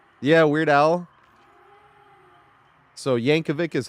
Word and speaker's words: Yankovic: yeah the movie name yeah Weird Al so Yankovic is how it's pronounced I've been saying it around my whole